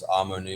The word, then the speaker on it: AmoNi: So Amo in Spanish means I love, and Ni in Chinese means you. And this work is a blended philosophy. It combines a bunch of different stuff. So I thought Amo-Ni was a good representation of what it actually is.